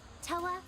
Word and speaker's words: Toa: Toa and the Guardians of the Sacred Tree.